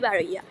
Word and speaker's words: Baroiya: so people get confused but the accurate one i would say after a lot of research would be baraya because that's what now